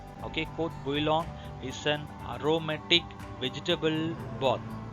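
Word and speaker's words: court-bouillon: this, that is the courte bouillon. Again, this is the French term. Don't touch the T, don't pronounce the T.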